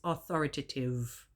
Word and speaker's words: authoritative: He said it's authoritative. It is not authoritative.